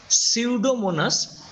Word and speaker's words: Pseudomonas: these are now Penicillium Pseudomonas in name Pseudomonas P is silent P will be silent like pneumonia but in writing have